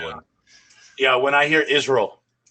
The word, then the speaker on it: Israel: Israel, but it's actually Israel. That's how it's Yeah.